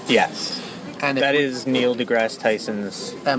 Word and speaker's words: deGrasse: DeGrasse. Because there's also that Degrassi Junior High TV show, but they spell it with an I, so hence why Degrassi.